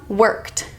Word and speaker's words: worked: The next one, worked. Worked. This is the T sound because the root word ends in K.